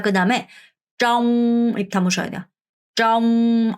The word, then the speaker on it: trong: trong r 발음해서 trong 뭐뭐 동안에 어디 안에 뭐뭐 동안에라는 표현이에요.